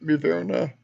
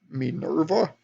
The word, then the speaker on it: Minerva: Yeah, so like if if I can get if I can just hold back on Miverna, um, I think I've been saying her name wrong. Actually, it's Minerva.